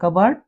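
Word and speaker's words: cupboard: यहां पर लेले हम पी तो पी के बाद यदि बी लगा हो तो पी साइलेंट हो जाता है कबर्ड या रसबेरी और प से पहले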